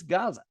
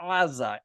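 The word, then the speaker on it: עזה: And this is why today we call the place Gaza. But historically, it was aza, and still today, aza. In Hebrew or Arabic, you say aza, aza.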